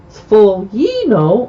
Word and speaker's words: sfoglino: Here's the pronunciation in the Sfolia. It's sfolia, a sheet of hand-rolled pasta dough. Sfoglino or sfoglina is a maker of fresh pasta sheets.